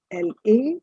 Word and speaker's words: la: The first is L-E, that's pronounced as le. Then you have L-A or la, that is used for feminine singular.